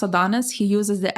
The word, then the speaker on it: Adonxs: Is it pronounced Adonis? Because I know he uses the X instead of the I, right? Yeah. So, So it's still pronounced Adonis.